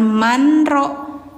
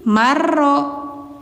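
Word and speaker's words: مَن رَّحِمَ: Jadi jangan as tapi as habul ukhdud qutila ashabul ukhdud illa marro ah bacanya jangan Manro tapi marro idgam bila gunah dimasukkan ke huruf siranya marroimahullah illa mar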